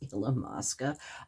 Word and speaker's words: Illamasqua: it illamasqua illamasqua highlighter it's not the way i was saying it it is illamasqua i practiced that for